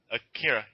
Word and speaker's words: Akira: I said Akira, right? Akira, yeah. Yeah, it's Akira. Yeah. That's how it's pronounced.